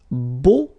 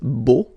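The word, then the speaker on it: beaux: plural version and it's Bo okay so you put this x at the end but then you don't pronounce it so it's Bo all right B b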